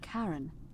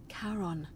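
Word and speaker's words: Charon: it's just as you described it only your pronunciation is a little off the name you heard wasn't karen it was c-h-a-r-o-n as in caron the ferryman of the dead in exchange for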